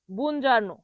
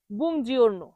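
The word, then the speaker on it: buongiorno: বুজারণ। তবে এটার সঠিক উচ্চারণ হবে বুজিওরন।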